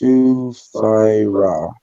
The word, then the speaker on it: Sufira: But it's pronounced Sufira. Sufira? Am I saying that right? Sufira? Sufira? Not Sue, it's Sufira. That's a pretty name.